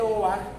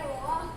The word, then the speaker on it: Beauvoir: ¿Era de Beauvoir o de Beauvoir? Bueno, yo he visto que la pronunciación es de Beauvoir, o sea, dicen de Beauvoir, pero es francés como de Beauvoir.